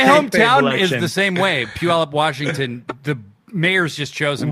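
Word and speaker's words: Puyallup: And most people call it Puyuloop or something like that.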